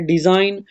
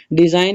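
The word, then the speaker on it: design: है आपका साइलेंट है फिर उसके बाद है डिजाइन डिजाइन में आपका जी जो है ना वो साइलेंट है फिर उसके बाद है जी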